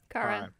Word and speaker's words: Kara: Kara. Okay, it's Kara. Good. I say her name wrong all the time.